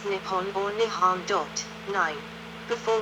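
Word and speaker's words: 日本: Japanese is written using the kanji and is pronounced Nippon or nihan dot nine before was adopted in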